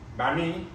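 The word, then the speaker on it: bánh mì: The second word is wrong. The first one I'm willing to take. But ban. Ban. Me. No. Me. Banh mi.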